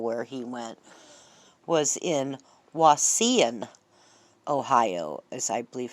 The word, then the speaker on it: Wauseon: is this hospital where he went was in Wauseon, Ohio, as I believe how they pronounced it.